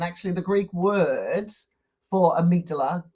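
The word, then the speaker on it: amygdala: what are they saying but it's actually the amigdala you know I did a YouTube video before where I pronounced it wrong the whole bloody video oh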